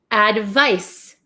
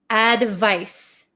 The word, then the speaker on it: advice: this one this is advice advice advice so this makes like an S Sound Advice advice so you